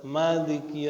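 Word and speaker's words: مالك: Ijma ahli qiraat atas membuang huruf alif pada maliki yaumiddin hurufnya enggak ada. Makanya tulisannya malaka tapi terbacanya malik ya.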